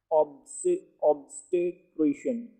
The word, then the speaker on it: obstetrician: ऑब्स्टेट्रिशियन pronunciation पर खास तवज्जो दें।